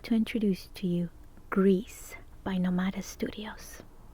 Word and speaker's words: Gris: main character is indeed Greece it means gray in Spanish so it's pronounced Greece it's also the same